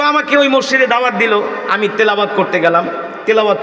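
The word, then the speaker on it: دال: আমরা বলি দাল। ওরা বলে ডাল। এক মাদ্রাসায় পড়াইতে গেছি বলি দাল। ডাল উচ্চারণ করতে পারে না।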